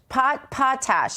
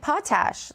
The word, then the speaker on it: potash: But I did learn that the proper pronunciation, I learned this in our YouTube chat from an audience member, is pronounced like potash. It's not potash. Potash made it sound like some sort of yummy potato-based food that I was going to get in Cajun land.